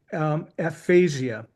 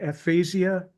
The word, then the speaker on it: aphasia: But Marcia struggled with aphasia. Am I saying that correct, Marcia? Is it aphasia? Is that how you pronounce the stroke that you had?